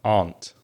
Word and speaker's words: aunt: And uh in my pronunciation from the south of England the R the vowel sound would be the same vowel sound that you find in the word car or far or bar. So that R sound aunt.